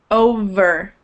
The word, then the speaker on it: over: but it's a V sound. So when you pronounce the V, your teeth, should touch right here. Over. and it should vibrate a little bit.